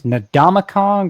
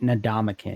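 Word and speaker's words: Ndamukong: Do you pronounce this Nadamong or is it Nadamin? Because I I know like Brent Musber Nadamakin Soup. Yeah. I mean, what's the point of having Kong in your name if you're not gonna have the Kong part pronounced? Yeah.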